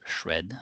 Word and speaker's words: SR&ED: research and experimental development so we should pronounce thread but somehow just bit organically emerged as shred for everybody uh it is a